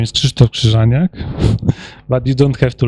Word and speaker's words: Krzysztof Krzyżaniak: this way s about me my name is Christo kranak but you don't have to learn how to pronounce because I react to my nickname as